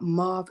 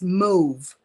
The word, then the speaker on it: mauve: lilac lavender slash color raise your hand if you thought that word was mob because I call from Belize and we say mauve and then one day somebody corrected me I don't remember if it was Jada and she said Mommy it's not mob it's move I said the word Ross that so I gonna look it up in the dictionary and lo and behold it was move child I know Jasmine